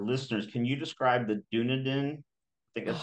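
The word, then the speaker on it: Dunedin: can you describe the dunaden I think that's how you pronounce it yes I've been corrected so many times it's supposed to be an emphasis on the E like dun Pace um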